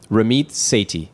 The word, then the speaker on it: Ramit Sethi: safety how do you say your name frankly Ramiz say T okay so you have the second edition of